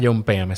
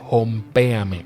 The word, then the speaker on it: Jompeame: el episodio etiquetar a John pm se escribe hompéame con j al inicio y vayan al enlace